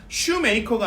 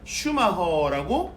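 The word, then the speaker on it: Schumacher: 근데 이거를 이제 독일식으로 읽어보니까 슈메이커가 아니라 슈마허라고 읽히는 거죠.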